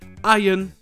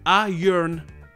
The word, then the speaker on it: iron: Par exemple, en anglais britannique, dans Iron et dans la plupart des mots, le R n'est pas du tout prononcé. En plus de ça, le O n'est pas accentué ici, ce qui donne le même son que le A dans Avengers et America, le son A. Donc ce mot-là se prononce en anglais Iron.